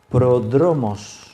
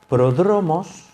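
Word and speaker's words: πρόδρομος: el orden de melquisedec esa palabra precursor es una palabra griega se pronuncia pródromos pródromos se ha traducido al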